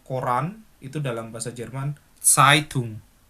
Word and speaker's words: Zeitung: Bukan Zeitung tapi Zeitung. Jadi gini aja. Kamu coba taruh telapak tanganmu di depan bibirmu. Ketika kamu bilang Zeitung itu keluar angin atau enggak? Kalau kamu bacanya kayak C, Zeitung enggak keluar angin. Tapi kalau kamu bacanya Zeitung itu keluar angin seperti itu.